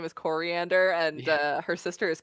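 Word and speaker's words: Koriand'r: she is from tamaran her name is pronounced like coriander it's starfire i love i love the when people realize her name is coriander and uh her sister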